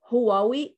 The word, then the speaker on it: Huawei: of, I say always, Huawei. This is the way how we say it in Arabic, but actually I know the pronunciation is different in in other for native speakers.